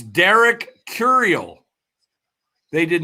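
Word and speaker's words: Curiel: Rob Manford is just announcing the pick, but it's Derek Curl. Derek Derek Curial is how you say it.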